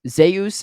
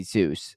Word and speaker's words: Zeus: Says Zeus is the correct way to pronounce Zeus, or the Greek god, I guess. It's just English speakers say Zeus.